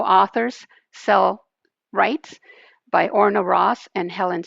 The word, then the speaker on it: Orna Ross: Okay, it's called How Authors Sell Rights by Orna Rice. Orna Ross, Ross. Oh, Orna Ross, yes.